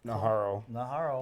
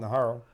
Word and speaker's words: Najarro: Najarro. Did I say it right? Najarro. Najarro.